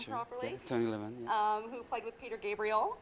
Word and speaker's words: Levin: Am I pronouncing the name properly? Yeah, Tony Levin, Who played with Peter Gabriel and Pink Floyd, Peter Lockett, who plays with Bjork.